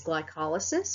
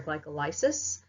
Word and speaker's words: glycolysis: We've got the first step is glycolysis or glycolysis, because you know, like the word lysis. Lysis means loosen, so glyco, sugar, so sugar loosening, so I tend to pronounce it that way.